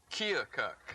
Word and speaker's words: Keokuk: Keokuk. Keokuk, Iowa. No, you didn't say it right. Keokuk. Keokuk. Right, you're getting closer.